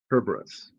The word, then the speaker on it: Cerberus: But I was taught to pronounce it Cerberus. Kerberos. Yeah, that's the way we learned to say it in school. No S.